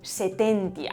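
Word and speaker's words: sententia: O por ejemplo, Setentia, la segunda sílaba termina en consonante.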